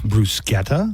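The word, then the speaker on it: bruschetta: heard it g Bretta I've definitely heard it pronounced Bretta brusketa uh Joanna's the one that's right it's brusketta brusketa it's brusa brus delicious no it's not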